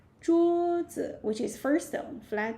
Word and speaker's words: 桌: We say 桌子. 桌子, which is first tone, flat tone. Okay, so 桌, yeah, first tone, neutral tone.